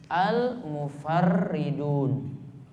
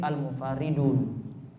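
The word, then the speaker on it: المفرّدون: Kalau dengan ditasydid berarti seperti kita sebut tadi almufarridun. Namun kalau tidak ditasdid berarti almufaridun. Mana yang tepat di sini? Kalau menurut jumhur atau kebanyakan ulama, Imam Nawawi katakan mereka membacanya dengan ditasydid berarti bacanya nantinya almufardridun.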